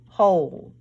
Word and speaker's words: whole: Whole. The O in this word says its name. The E is silent, remember?